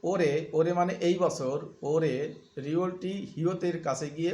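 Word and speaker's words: 올해: নিয়ন গত বছর ওরে ওরে মানে এই বছর ওরে রিওয়লটি হিয়তের কাছে গিয়ে উচ্চারণ হবে ওরে এই বছর নেয়ন মানে আগামী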